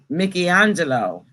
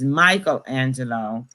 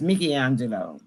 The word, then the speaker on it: Michelangelo: the romans was uh mickey angelo we pronounce it as michelangelo but it's uh his name he's italian and it's really pronounced mickey angelo okay and this is